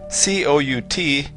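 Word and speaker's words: cout: all of the interesting work in this program cou T is pronounced C out and it is the output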